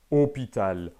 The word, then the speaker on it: hôpital: circonflexe qui note une prononciation de haut fermez hôpital ou ont-elles certaines prononciations par exemple du sud de la france